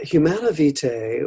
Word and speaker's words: Humanae Vitae: Humanae vita?